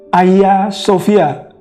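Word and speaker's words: Ayasofya: dan waktu diucapkan dan mengapa menjadi Ayah Sofia karena Hagia yang dibaca oleh orang Turki Gayanya itu menjadi H jadi kalau Hagia sebenarnya kedengarannya hak ya kemudian kalau diucapkan cepat tapi ini menurut Pak Arif ya yang pemandu wisata orang Turki oleh sebab dibaca cepat atau disebut cepat sehingga menjadi Ayah jadi bukan hanya tapi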